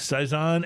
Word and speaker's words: Saison: brazer Dupont sprl I don't know how you pronounce that Saison Dupont it's Saison and it is brewed in Belgium and they